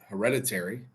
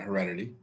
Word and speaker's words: Hereditary: So I don't know how we got here, but Hereditary, not Heredity.